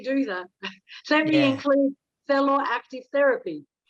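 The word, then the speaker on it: θέλω: It's actually pronounced Thelo, which is Thelo. the Greek word, Thelo, which is the Greek word for I want, I need.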